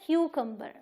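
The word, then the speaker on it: cucumber: लेकिन यहाँ पे वाई तो नहीं है, बट इसे हम क्यू बोलेंगे शुरू में, क्यू, और फिर इसे हम क बोलेंगे। एक यू की प्रोनाउंसिएशन यू है और एक यू की प्रोनाउंसिएशन अ है, तो ये है क्यूकम्बर। कहाँ स्ट्रेस? क्यू पे, क्यूकम्बर। ओके, जैसे आप सवाल पूछो ना क्यों, तो क्यूकम्बर।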